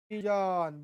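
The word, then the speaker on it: division: डिव्हिजन. बरोबर. जसं आपण पाहिलं त्या ठिकाणी, जसं आपण पाहिलं की TION शन असा होतो, तर SION याचा ध्वनी, आवाज, उच्चार जन असा होतो.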